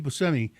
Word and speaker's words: Buscemi: tape and he said hi this is Steve Buscemi and in the where is it Monroe in in Monroe Michigan there there's a pizza restaurant called Buscemi's.